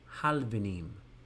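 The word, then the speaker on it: הלבנים: And the bricks would be halvenim, halvenim. Now notice the dagesh in the lamed. It almost implies that you should sound the lamed twice or transliterate it with two L's.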